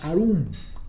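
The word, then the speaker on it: עָרוּם: Y la palabra astuta, que es la palabra arum, casi se escribe igual, casi se pronuncia igual, pero no es la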